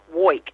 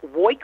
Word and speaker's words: Woik: Well, my last name is pronounced Woik, and how I say that is I woik all day and I woik all night, and that is about correct.